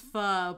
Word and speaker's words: Faux Dat: Well, apparently it's pronounced pho, but I'll continue to say faux.